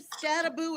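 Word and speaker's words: Skattebo: There's one O at the end of his name. There's not two. Oh, so the announcers have been calling him Scataboo, and it's everybody. I've heard one. I've even heard the AI say Scatabo.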